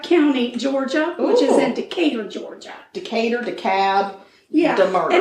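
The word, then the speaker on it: Decatur: we're in decab County Georgia which is in decator Georgia decator decab deur and it's weird cuz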